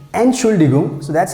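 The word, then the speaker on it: Entschuldigung: use to to describe excuse me excuse me and surely gum and chuligum so that's how you have to pronounce i hope you understand everything and now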